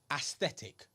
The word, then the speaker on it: aesthetic: Aesthetic.